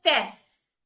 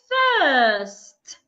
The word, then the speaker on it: first: It's not I can fess. What happened to the T? The T is not silent. Please pronounce it. Do not say I can fess. I can first.